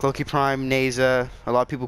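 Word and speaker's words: Nezha: prom like low-key prime neza a lot of people call nausea I call neza because neza the H is silent it's not nausea there's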